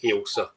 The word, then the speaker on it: Ailsa: the correct pronunciation is Elsa think of it like a a flagging of a you knowa I can I can think of thatsa yeah it's a Scottish name Elsa dark and I